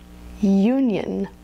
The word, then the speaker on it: union: the onion but this is the diphthong you Union another very common mispronunciation is computer so it's not computer remember